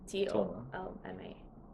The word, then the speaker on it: dolma: Doma is Dolma, but Dolma. some people say Toma, Tolma.